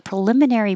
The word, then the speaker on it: preliminary: The preliminary break is on the buy sheet. And we worked on preliminary. You can say pra or pre, that's either way.